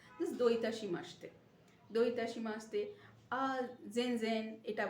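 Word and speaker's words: どういたしまして: লিখছি C, pronunciation হচ্ছে এস, এস এর উচ্চারণ, দো ইতাশি মাসতে, একসাথে মাসিতে বলে না, মাসতে, দো ইতাশি মাসতে।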